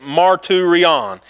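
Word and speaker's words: μαρτύριον: It's pronounced marturion.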